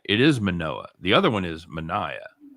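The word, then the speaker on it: Manoah: about irvin gets murdered by that time you pronounce it right it is manoa the other one is mania oh he's strong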